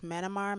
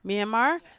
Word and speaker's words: Myanmar: they have that conflict in let me not mispronounce this manimar miramar myanmar myanmar now and people are looking at the states